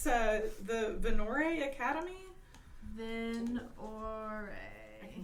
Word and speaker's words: Venorrae: Venore. I can spell it for you if you'd like.